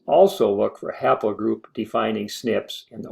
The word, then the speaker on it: SNP: began dividing into branches the mutations that mark the branches are abbreviated snp and pronounced snip we call those branches